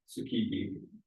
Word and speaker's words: Tsukiji: Tsukiji.